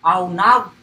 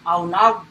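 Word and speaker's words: עָנָו: And here is the pronunciation, okay? Aunav, that's how it is pronounced, okay? The original word is there, this one. This is the transliteration, the pronunciation, aunav, in the Hebrew.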